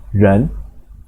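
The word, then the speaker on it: 人: Bacanya ren, artinya orang.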